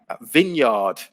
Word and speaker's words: vineyard: there's a silent n vineyard um where you make wine there's a silent e and vineyard and wrinkle with again